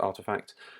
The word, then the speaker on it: RTFKT: This is Nike buying up RTFKT, which, as all the cool kids know, is actually pronounced Artifact.